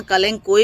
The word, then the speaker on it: कलांचो: कलांचो जिसे कि जिसका प्रोनाउंसिएशन कलेंको भी कहा जाता है और और भी कुछ देसी वगैरह नाम होते होंगे।